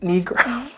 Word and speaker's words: Nigro: Anyways, the American producer, Dan Nigro, it's spelled N-I-G-R-O, like Negro.